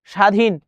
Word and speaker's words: স্বাধীন: বিশ্ব বিশ্ব নসবর আস্বাদন স্বাধীন স্বাধীন স্বাধীন কোনটির বফার উচ্চারণ হচ্ছে না এ বি সি ডি কোনটি হবে এ বি সি ডি কোনটি হবে দেখি আমরা স্বাধীন স্বাধীনের শব্দটি ব ফলার উচ্চারণ হবে না দেখ স্বাধীন আশাদন এটা